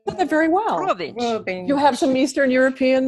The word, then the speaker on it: Robins: Yeah, Now, and my last name, Robins, is actually pronounced Ruabinch, but it's spelled just like Robins, so it anglicizes. Ruabinch. Oh, you said that very well. Ruabinch.